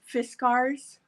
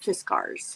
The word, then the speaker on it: Fiskars: is really a cool, it's a I always pronounce it wrong. Fiskars. Oh, I thought it was I always Fiskars. thought it Fiskars, but at CHA, when we used to go to CHA, they called it Fiskars.